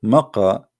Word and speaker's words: Mecca: Sorry, for the people of Quraysh, they pronounce the letter Qa as Ka in such places, like in this case here, Mecca. So all what they do, they switch the letter. So Makkah became Mecca.